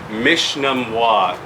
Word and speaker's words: Mishnamwa: This is Mishnamwa.